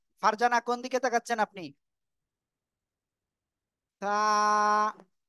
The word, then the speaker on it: ث: ঠিক আছে, তা, তা, সবাই একসাথে জোরে জোরে বলেন।